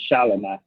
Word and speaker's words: Shelomi: That's how you pronounce her name, Shelomi.